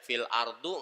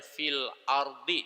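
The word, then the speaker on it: فِي الْأَرْضِ: Wa fil ardi itu nggak boleh dibaca fil ardu, nggak boleh dibaca fil ardo. Kalau ada fi, ada li, dia pasti bacanya fil ardi, dikasrohkan.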